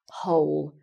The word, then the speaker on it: whole: So, whole, and the pronunciation is exactly the same.